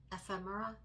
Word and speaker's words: ephemera: Ephemera.